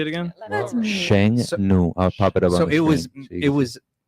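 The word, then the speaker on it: 剩女: Sheng Nu.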